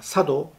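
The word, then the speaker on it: 佐渡: 書いてねあのこれをサドと読むんですよこのあのえ世界遺産の場合ねで佐藤島と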